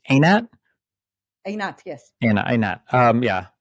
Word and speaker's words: Einat: to Israel um I I mean is it pronounced it's anat anat yes an anat um yeah I'm hesitant to